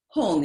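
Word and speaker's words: hum: end of the mantra hong is at the end and the hong is spelled two ways we spell it in english h-u-m or h-g-n-g doesn't matter both the same sanskrit syllable hong okay which also lacks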